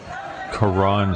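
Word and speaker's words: Karon: Karan spelled K-A-R-O-N. So like Karen.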